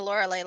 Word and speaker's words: Lauralee: check with disadvantage sweet I do pronounce the Lauralee like Lorelei like the stick song if that helps uh